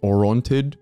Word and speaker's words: Orontid: for any of our international audience, non-Armenian audience, Orontid is the English pronunciation, but in our history, yeah, we learned it as Yervandun.